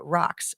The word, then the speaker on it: Raqs: it would be of Cairo or rocks which is not spelled the normal way it'd be r-a-q-s oh I I pronounced it wrong earlier Sharky is uh the